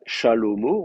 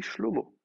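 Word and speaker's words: שלמה: On dit pas Shalomo, on dit Shlomo dans la Bible. Alors que il y avait un A mais qui est tombé. Et d'ailleurs nous, on sait que c'est un A puisqu'on dit Salomon en français.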